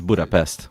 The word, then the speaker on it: Budapest: Honestly, with Hungary, it's always like it's Budapest or Bucharest, but it's Budapest.